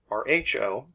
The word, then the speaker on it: rho: We instead use what this is, which is a Greek letter rho, R-H-O, pronounced like R-O-W, rho.